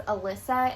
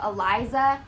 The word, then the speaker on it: Eliza: And that name would probably get mistaken a lot as Alyssa instead of Eliza, just because, like, how do you make it very obvious that it's Eliza? Right.